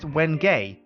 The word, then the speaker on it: wenge: Now, the one thing that I've been told, which is kind of curious, is that the wenge is actually pronounced wenge.